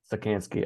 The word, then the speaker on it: Czekanski: say how do you say your last name sikanski sakanski okay that's not so bad um yeah so